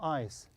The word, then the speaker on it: ice: Okay, why I say I? Because I have I, any letter here, then E, then I will pronounce it as I.